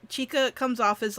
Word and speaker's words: Chika: But I really like that Chizuki, I might be saying her name wrong, keeps teaching Oh, the boy. Chika.